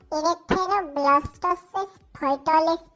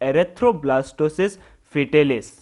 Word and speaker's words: erythroblastosis fetalis: सर, इरेक्थेरोब्लास्टोसिस फर्टालिस पे।